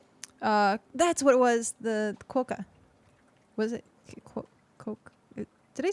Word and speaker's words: quokka: Letters Q-U-O in quokka say qua. Try saying wa, qua. Qua. Quokka. The Quokka. stress is on the first syllable. Interesting. Qua is long and ka is short.